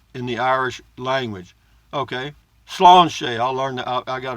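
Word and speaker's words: sláinte: spelled s la I and te but it's pronounced Sloan's Sloan Shay Sloan the let's do it PJ biker full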